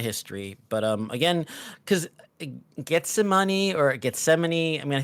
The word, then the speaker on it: Gethsemane: I mean I think I say getsemane because it's kind of like the Biblical term but get some money I think it's probably the proper way to say it uh how did the